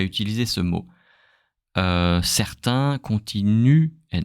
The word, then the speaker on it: continuent: If it's a verb, don't pronounce the ENT at the end.